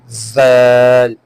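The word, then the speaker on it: ذال: The next is zal, zal. Just like sa, the sound it makes while reading it, the upper side edge of two teeth.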